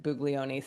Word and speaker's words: Buglioni: Uh, but we listened to the way they announced at the draft and they said Bugleion.